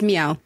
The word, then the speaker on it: MEOVV: It's Meow. Meow. Meow's Meow. There's no V.